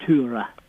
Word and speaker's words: Tora: Her name, we would normally call her Tora Berger. Yes. But they would pronounce it Tura.